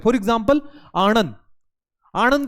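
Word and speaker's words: आणंद: गुजरात के अंदर एक गांव है जिसका नाम है आनंद, आनंद भी पढ़ते हैं उसको, पर आनंद उसका प्रॉपर प्रोनाउंसिएशन है।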